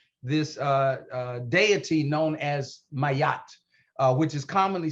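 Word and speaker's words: Ma'at: idea of a why so it's like mayat a very light y there uh light in terms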